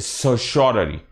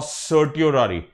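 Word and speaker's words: certiorari: इट is called as सर्श्योररी और सर्टियोररी। Either ways, अगर तुम इसको सर्टियोररी बोलते हो तो इट is easy for यू to remember.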